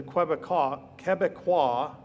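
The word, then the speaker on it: Québécois: And this is the Quebecois, right here, that's how you say it in French.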